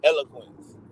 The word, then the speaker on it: eloquent: I think that there's there's a silent E and that is eloquent yes sir that e there is silent because I believe